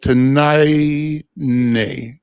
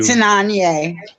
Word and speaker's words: Tananye: so I think Tanai, I may be saying the name wrong, and you can help me, but it's here. So I'm going to pass the stick to you. Tananye.